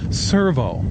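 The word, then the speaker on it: Sirveaux: It's not Servo anymore. It's Servo. It sounds the same, only it's spelled S-I-R-V-E-A-U-X.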